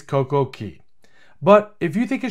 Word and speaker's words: CocoCay: my next video reviewing Coco K beach club I'm going to continue mispronouncing perfect day at CoCo K I know it's CoCo Key but if you think